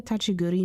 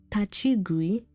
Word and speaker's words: Tachigui: Isn't there like a touchy goody myth, like a night touchy goody myth? Tachigui. Have I been saying it wrong? Tachigui? Have I been saying it wrong? I have.